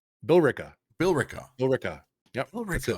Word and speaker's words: Billerica: No, so remember what we did with Haverhill? We ignore the E in the Haverhill. middle of a word. Oh, Billerica. Billerica. Billerica. Billerica. Yep, that's it, Billerica.